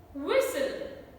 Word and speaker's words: whistle: Can you guess the silent letters in this word? There are not one, not two, in fact 3 silent letters in this small word. H is silent, T is silent, and E is silent.